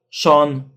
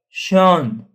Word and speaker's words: schön: ae like I ein äu o like heute heute ö heute sch sh sh not schön or schön but schön schön is a ö that we learned also before.